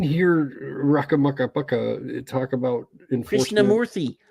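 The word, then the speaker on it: Krishnamoorthi: Krishnamurthy. I've been saying it right the whole time. Krishnamurthy.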